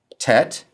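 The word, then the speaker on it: ט: Tet is one of the t sounds in Hebrew and it sounds like the t in toy.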